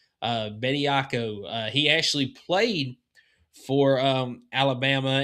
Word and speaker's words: Bediako: Bediako.